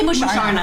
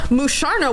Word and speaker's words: Musharna: Do you say moosh or mush? I say Musharna.